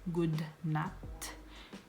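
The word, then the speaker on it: god natt: the next one is good night which is good not good not and if you say it quickly but not not and good afternoon which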